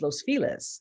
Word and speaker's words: Los Feliz: called Los Feliz, but it looks like Feliz because that's how. And it's like, no, it's Los Feliz.